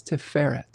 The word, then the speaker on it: Tiferet: Emphasis on the second syllable, Chad says. Tiferet.